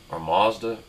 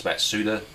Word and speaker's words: Mazda: had like a Mazda Mazda actually prevent the correct pronunciation is Matsuda with all-wheel drive and